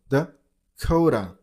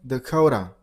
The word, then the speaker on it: Dakota: North Dakota. North Dakota. While you pronounce the second word, you got to stress on the second syllable. Dakota. And the last T turns into a little bit D sound. Dakota.